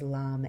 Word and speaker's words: Lam: The seed syllable here is Lam, L-A-M. Let's just chant it a few times continuously. Keep your attention on the first chakra. It sounds like this.